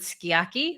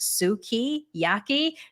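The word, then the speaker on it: sukiyaki: I ordered skiaki, which is how we fucking say it. And she goes, excuse me, this is the waitress. Excuse me, it's pronounced suki, yaki. No, bitch, it's fucking not.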